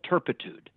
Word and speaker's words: turpitude: That's turpitude, not turpentine. That's a big word. An offense that has, I like to say it like Sheldon Leonard would say it. It's a crime of moral turpitude. You have to say turpitude. You can't just say it with the New York act, turpitude, okay?